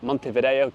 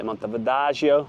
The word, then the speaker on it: Montevideo: I have to uh remember how to pronounce it not to say mon Vio not to say mon vagio as if I'm Italian but there's just so